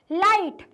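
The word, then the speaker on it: light: लाइट, लाइट में क्या word जी silent है? हाँ है।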